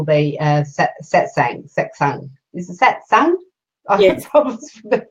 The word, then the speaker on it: satsang: Is it satsang? Yes. The pronunciation.